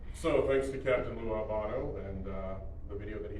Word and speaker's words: Albano: But the biggest thing I think that happened was Captain Lou Albano, that's the correct pronunciation of that, did a music video with Cyndi Lauper.